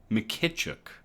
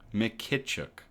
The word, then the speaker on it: Mykytchuk: Mykytchuk. Mykytchuk. Mykytchuk. Mykytchuk. All right. Canada has yet to achieve full-scale commercial deployment, according to Nadia Mykytchuk.